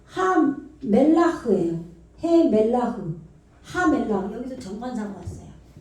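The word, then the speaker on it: הַמֶּלַח: 예, 하멜라흐예요. 해멜라흐. 하멜라흐. 여기서 정관사가 왔어요. 하멜리면은 여기 맴이니까 미음 발음 나겠죠.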